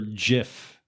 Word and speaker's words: GIF: It's pronounced GIF. GIF. Please write in. Please write in and tell Chris Peanut butter is pronounced GIF. It's a GIF. Okay, listeners, help us out. You can email us at stayontopic111@gmail. You can hit me up on Twitter at Guiltastrophe or Bob at Bob Ricotta or James at PostJam9. How is it pronounced? Is it pronounced GIF? With the hard Celtic G, or GIF as the inventor intended?